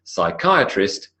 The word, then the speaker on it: psychiatrist: And psychiatrist, suppressing the P and suppressing the H.